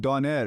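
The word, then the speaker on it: döner: Turkish people are like doner. You're actually closer to the correct you version. You gotta roll the R.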